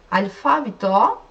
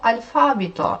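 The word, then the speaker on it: αλφάβητο: bir maa ders demek Bak burada on sonunda bir tane apostrof var üstünde orada vurgu geliyor eliko alfavito eliko alfavito Yunanca alfabet alfabe yani burada Yunanca harflerle yazılıyor burada Türkçe harflerle yazdım nasıl telaffuz ediliyor Yunancada Burada şu apostrof gördüğümüz yerde Bu çizgi Yani bir işaret var ya şeyin harfin üzerin apostrof yani vurgu orada düşüyor yani böyle eleno demiyoruz Elen Alfo yani Alfo demiyoruz alfabe Alfo Elo Alfo Yunanca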